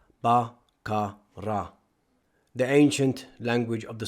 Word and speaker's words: Baqarah: Baqarah should be separated into its three syllables. BaKaRa.